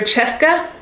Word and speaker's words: Cheska: I would not look at this and hear Cheska, but it is pronounced Cheska.